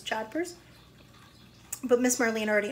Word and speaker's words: jodhpurs: you notice it has a pronunciation thing for JA purrs jodhpurs but miss Marlee and